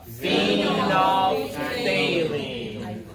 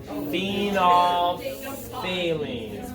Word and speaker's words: phenolphthalein: And I just want to ask you, can we all pronounce this second indicator all at the same time? Phenolphthalein. Say it with me for it. Okay, ready? 1, 2, 3. Phenolphthalein.